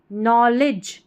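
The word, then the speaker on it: knowledge: फिर है access access to नॉलेज नॉलेज यहां पर के और एन में के साइलेंट है। नॉलेज और डी जी ई हमारा पैटर्न है। इसको ज पढ़ते हैं।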